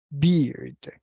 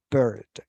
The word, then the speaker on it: bird: Let's pay attention to the pronunciation because it is no beard. It is bird.